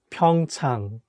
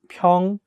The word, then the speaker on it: 평창: the correct pronunciation is 평창 (pyeongchang). So you have to make sure to say “a” sound clearly in the second syllable like 평창 (pyeongchang), That’s